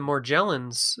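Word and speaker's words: Morgellons: in all of the more gel ins research and that's that is the correct pronunciation of it it's a soft G because it's back to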